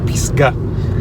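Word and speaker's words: פסגה: In Hebrew, you pronounce it Pisgah, which literally means summit or top of a mountain.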